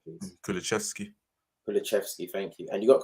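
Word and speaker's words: Kulusevski: Why I say that is because, yes, he got Kulishevsky, or help me with the pronunciation, please. Kulishevsky, thank you.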